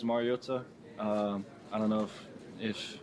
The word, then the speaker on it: Mariota: Marcus, but the last name is Mariota. I don't know if it's just for the Polynesian culture, you always got to enunciate the vowels, and so it's Mariota, but yeah.